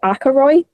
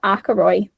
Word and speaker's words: Ackroyd: Instead of, they put Ackroyd. What? I was like, I don't know how they've got that one. It's spelled like A-K-A...